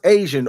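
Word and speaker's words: ASEAN: Sepik Takraw, an Asian, and that is pronounced Asian, origin sport, is most popular to which of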